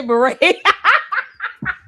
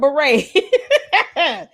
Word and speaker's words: beret: She she figured out how to say beret. And this kick rocks. She finally learned how to say the word beret. Cuz I was definitely expecting her to say bere.